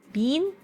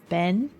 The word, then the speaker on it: been: course I'll blow off how do you pronounce bin how have you been doing how how are you guys been doing how I've been doing great I've been doing great I've been been see Bean I've been doing set set Ben I've been doing Ben this one confused the